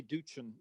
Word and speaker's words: Doochin: No, my brother said it that way. I say Doochin. I say it the hard one, so it's good. Oh, Doochin.